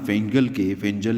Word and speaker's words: Fengal: भारत पर इस तूफान फेंजल या फेंगल, जो भी इसका नाम आप समझें, क्योंकि FENGAL नाम है और FENJAL इसका प्रोनाउंसिएशन है।